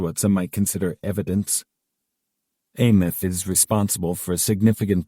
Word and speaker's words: AMF: The Andrew Melvin interrogation footage, AMF, pronounced ath is infamous among the conspiratorial community of old house archivists, OAS, pronounced ohas.